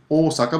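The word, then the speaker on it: 大阪: Now Osaka, of course, the actual pronunciation of Osaka is Osaka, but when we write it in English it just has one O.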